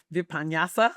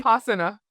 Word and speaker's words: Vipassana: Vipanyasa, but basically, Vipassana.